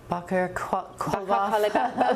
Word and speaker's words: Baqer Qalibaf: Meanwhile, Iran's top negotiator and parliament speaker Mohammad You can pronounce that for me. Baqer Qalibaf.